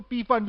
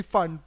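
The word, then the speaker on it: Pfund: द फंड series बाद लोग उसको पी फंड भी कहते हैं इट्स बेसिकली फंड पी यहां पे साइलेंट है लाइवन सीरीज के लिए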